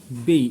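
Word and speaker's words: Baiae: बेई इसका मैंने यहां उच्चारण भी दिया हुआ है।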